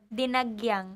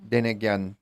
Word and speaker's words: Dinagyang: Dinagyang. Dinigyan. No. Dinagyang. There's no Dinagyan. A between G and Y.